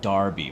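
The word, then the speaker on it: Derby: guys that is it it's pronounced Darby my bad my you guys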